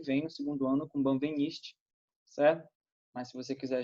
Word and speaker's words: Benveniste: só no que vem, no segundo ano, com Benveniste, certo?